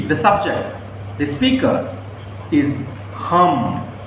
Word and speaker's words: हम: The speaker is hum. How do you pronounce?